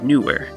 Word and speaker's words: newer: as the same syllable, an example in English would be newer. So you have the oo vowel sound and the vowel sound, but they're treated as two separate syllables. Newer. It's not a diphthong.